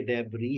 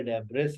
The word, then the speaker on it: debris: ये लिखा हुआ है डेबरी, हमें कैसे पता चलता है कि ये डेबरी है या डेब्रिस है? जब हम साउंड्स को स्टडी करते हैं, आज का टॉपिक ही प्रोनाउंसिएशंस के ऊपर है, तो जब आप साउंड्स को स्टडी करेंगे तो आपको पता चलेगा कि यहाँ पर जो एस है वो साइलेंट है।